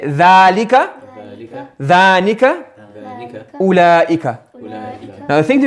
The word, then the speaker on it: أولئك: Now the thing to remember about this أولئك, this waw is silent. It's not أولئك. It's written, not pronounced. Yes, so this waw, as I was saying, this waw is silent. You don't say أولئك, you say أولئك.